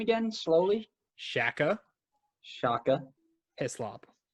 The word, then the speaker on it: Hislop: Shaka Hislop. Hislop, like with an I?